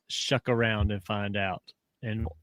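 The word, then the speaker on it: Shough: Is it slow? No. Shuck.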